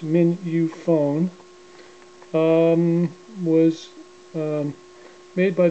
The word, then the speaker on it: Mignonphone: to the reproducer here the minion phone um pronounced min you phone um was um made